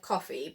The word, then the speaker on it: Ko-fi: So I think it's supposed to be said coffee, but it's spelled like Ko-fi.